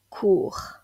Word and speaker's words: cours: phonétique internationale de cours cours il ne faut pas confondre cours avec un S avec un autre mot qui se prononce de la même façon court mais qui lui est